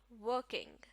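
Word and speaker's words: working: इसी तरह वर्किंग, वर्किंग नहीं, वर्किंग।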